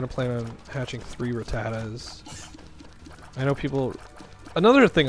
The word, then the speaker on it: Rattata: plan on hatching three rattatas I know people another thing I love about Pokemon everyone's pronunciation of things like I say Rattata some people say ratata um what else have